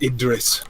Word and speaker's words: Idris: It's pronounced Idris.